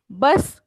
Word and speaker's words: Bus: English में लिखते वक्त हम लोग, इंग्लिश में प्रोनाउंस करते वक्त हम लोग बस कहते हैं, उसका स्पेलिंग भी सेम है, बट जर्मन में प्रोनाउंस करते वक्त देर बुस. बुस.